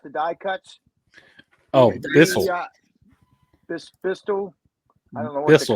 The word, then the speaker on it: Beistle: Bistle. I don't know what Bissell, the I company think. name is. Beistle.